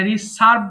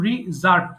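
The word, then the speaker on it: reserve: এটা রিসার্ভ বলে অনেকে, এটা কিন্তু রিজার্ভ।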